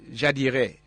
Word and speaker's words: Jadire: Brand, did I pronounce it correctly? Jadire.